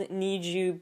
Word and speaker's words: NiziU: They're called Nizu because it's like supposed to sound like Need You, but it's spelled Niziu.